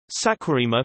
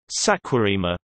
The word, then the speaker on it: Saquarema: Saquarema, Portuguese pronunciation, SCOM, is a municipality located in the Brazilian state of Rio de Janeiro.